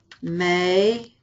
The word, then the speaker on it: me: Me, te, Lola. Nos, los, and las. Me, te, Lola. Nos, los, and las. In Spanish, it's me. In English, it's me. It's the same word. It's pronounced differently.